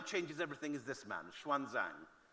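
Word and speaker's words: Xuanzang: everything is this man Schwan Zang the older among you would have learned about him in school asang in the old spelling he's now meant to be pronounced shanang and Schwan Zang came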